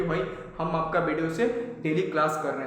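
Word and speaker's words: pseudo: पी एच यू एस एच आर डी ओ सूडो इसको सूड सूडो मतलब पीए silent होता है।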